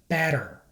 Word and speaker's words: better: result of lazy speech as a general rule when T is between two vowels it is pronounced like a fast D sound to many Spanish speakers